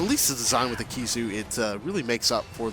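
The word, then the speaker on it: Khezu: Well, one, it's like the Kizu, it's also very stretchy.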